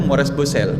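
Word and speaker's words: Maurice Bucaille: adalah dengan ahli bedah saya membacanya mores bosel mores bosel itu bahasa Prancis namanya mores bosel itu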